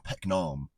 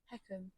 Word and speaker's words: Peckham: it Peckham or Pecknam? Peckham. Because There's no N in it.